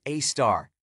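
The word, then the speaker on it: Sagittarius A*: its Center known as Sagittarius A asterisk pronounced a star which is more than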